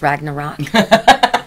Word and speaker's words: Ragnarok: I forgot how to pronounce Ragnarok it sounds like Fraggle Rock it kind of does